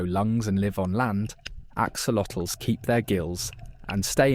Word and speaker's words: axolotls: Axolotls, pronounced axolotls, are a species of salamander native only to a few lakes in Mexico, mainly Lake Xochimilco.